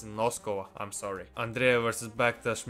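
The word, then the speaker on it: Noskova: per no aaren sorry sorry Nosa not NOS thank you to the person who corrected me in one of my videos who said that I'm pronouncing the name wrong it's nosco I'm sorry Andrea versus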